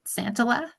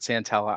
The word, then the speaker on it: Santella: Robert Santala. I might have butchered your last name. Sorry. Yeah, Robert Santella.